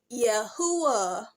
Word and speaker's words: Yahuah: So it would have been, if you replace the J back with the I, it would have pronounced Yahuah. Because clearly you are seeing that I'm looking at a U and not a V.